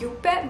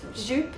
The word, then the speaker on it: Juppe: color by the way it's pronounced as you pet but i made by mistake pronounce it as jup sometimes because i learned